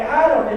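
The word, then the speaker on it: אָדָם: you guys ready to learn a little yeah hebrew sound excited it's fun okay that word man is pronounced look at that your naturals okay adam in this case context it doesn't just mean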